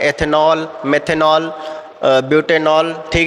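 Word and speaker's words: butanal: जो OH का होता है OL, जैसे एथेनॉल पढ़ते हैं, एथेनॉल, मेथेनॉल, ब्यूटेनॉल। ठीक है, तो इसका सीधे पढ़ेंगे ब्यूटेनल, एथेनल, प्रोपेनल। ठीक है, तो उनका प्रोनाउंसिएशन अलग होता है, इनका अलग होगा, ब्यूटेनॉल।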